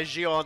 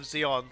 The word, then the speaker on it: Zeon: enemy near thing objective i'm still bothered by jion instead of zeon like the original anime said it yeah i know i'm